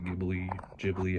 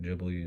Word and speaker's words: Ghibli: it over there with a bunch of like Ghibli, however you, I don't know.